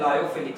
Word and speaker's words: lyophilic: एक लायोफोबिक सॉल, सॉल माने colloid, समझना, सॉल माने colloid, लायोफोबिक सॉल एंड लायोफिलिक sol. Ready? कुछ यहाँ पे प्रोनाउंसिएशन करते हैं लियोफिलिक, आप कोई भी कर सकते हो, हमें तो मतलब